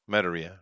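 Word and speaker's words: Madureira: How do you pronounce that? Metaria.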